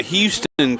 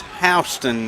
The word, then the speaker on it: Houston: They pronounce it wrong here in Georgia, but that's okay. That's like, it's not Houston County, it's Houston Yes, County.